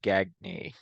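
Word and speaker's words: Gagne: teams sorry is it is that not how you say his name I think it might be I think it's actually gagy Greg gagy sorry I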